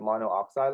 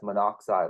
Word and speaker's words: monoxide: will see it as monoxide like that we don't say monooxide we just kind of get rid of one oxygen and get rid of